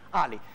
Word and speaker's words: Ali: Ali senza l'accento sulla I, non è Ali come... No, insomma... Ali normale. Esatto, sì. Si dice in realtà Ali.